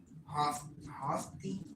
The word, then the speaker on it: haughty: The Lord says, the women of Sion are haughty. Yeah, that's definitely how you say it. Hoth, it's like naughty, but it's with an H.